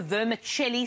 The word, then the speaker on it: vermicelli: So vermicelli, as though it's vermicelli, an Italian vermicelli like pronunciation. Vermicelli.